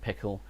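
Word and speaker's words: PECL: who's a bit confused there's two libraries pronounced pickle one spelled p-e-c-l and the other spelled p-i-c-k-l okay yeah i mean i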